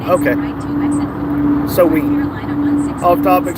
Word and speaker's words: Samhain: Holiday called uh Samhain pronounced sowain. Okay. sowain Off topic said Bill Murray is one of the Ghostbusters by the way.